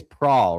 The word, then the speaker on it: Prawl: Nick, your last name is Prawl, right? That's how you say it.